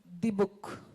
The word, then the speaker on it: Dybbuk: I hope I'm pronouncing it right again. It's Dibuk. Is that correct? Right, Dibuk.